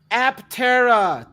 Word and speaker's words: Aptera: Aptera, 3 syllables, 3 wheels.